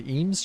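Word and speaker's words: Eames: How do you pronounce that? The EMS chair or Ames chair.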